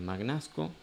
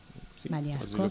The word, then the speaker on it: Magnasco: Entonces, hay varios proyectos que se van dando desde senadores, diputados y mismo el ministro de justicia de Magnasco. Maníasco, sí, sí, pero se escribe así.